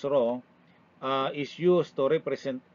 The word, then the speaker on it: rho: the symbol rs or the Greek letter raw pronounce raw Uh is used to